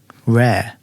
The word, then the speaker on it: rare: Whereas, like what I'm doing is it seems lazy, rare.